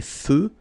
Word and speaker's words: feux: So here, final X not pronounced. Des feux de circulation.